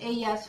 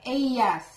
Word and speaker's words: ellas: and they is ellos, ellas for men and women. For more information pala, the L, double L, you pronounce it as ya, ya, ya. Mm-hmm. Yeah, like ellas. Ellas is E-L-L-A-S.